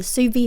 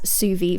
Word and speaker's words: Zuvi: the benefits of the suvi halo hair dryer also it is spelt zuvi but i am gonna pronounce it as suvi throughout this video so